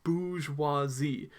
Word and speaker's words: bourgeoisie: French words here so the pronunciation might not look the same as the way we read it so when you see this word remember it's bougie huazi or I might just